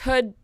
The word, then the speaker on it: Hood: find me it's Hood people always say my last name wrong and I've kind of stopped correcting them but it is Hood like the hood of a jacket and if you're listening